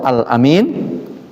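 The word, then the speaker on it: أمين: Tapi kalau amin itu gelar Rasulullah, al-amin itu artinya terpercaya, bisa dipercaya. Itu gelar siapa? Rasulullah. Amin, bacanya amin, A-nya pendek, tapi minnya, mi-nya panjang, itu artinya terpercaya, jujur.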